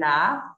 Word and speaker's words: laugh: The children laughed. Laugh, G and H letter, we pronounce it like F, laugh.